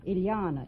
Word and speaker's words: Ilana: Cosby is that right Ilana it rhymes with Manana okay you related to